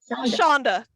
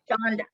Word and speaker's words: Chandra: Shonda. Okay. Rhymes with Honda. Yep. I know there's no. Okay, Shonda.